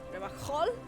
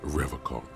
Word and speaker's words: Revachol: Revachol? He pronounces Revacol with a hard K, unlike other people.